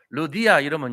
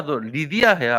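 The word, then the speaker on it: Lydia: 세운게 아니고 거기서 루디아라는 여자를 만나요 루디아의 영어식 발음이 뭔지 아세요 미국 가가지고 루디아 이러면 못 알아들어요 루디아가 누구냐 그래요 아니 뭐뭐 루디아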